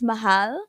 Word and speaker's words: mahal: I I I'll teach you okay so it's Mahal Mahal Mahal oh yeah I remember that now or Mahal Kayo Mahal K that's what I Mahal Kayo